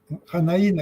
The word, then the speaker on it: Janaína: Yanaína, que es, perdón, Janaína, yo le pongo el Yanaína por por Brasil, no es que así es porque es brasileño, así que es Yanaína.